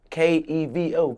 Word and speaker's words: Kevo: Kevo. All that Kevo and all that shit. That shit weak. That shit ain't none of me. My name Kevo. Kevo.